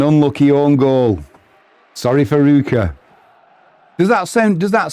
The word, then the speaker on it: Ruch: Right, Adrian, it's Rue. And then the end is like the last C&H off lock. Or flock. So it'd be Ruch.